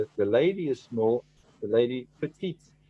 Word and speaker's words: petite: But if I say the lady is small, the lady petite. So I put an E after the T and then I pronounce that last T. If it's a woman, you will pronounce the TE, right?